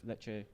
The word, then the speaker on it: Lecce: Yeah, and Lecce, is that how you pronounce the name? Lecce? Yeah, Lecce. Yeah, Lecce.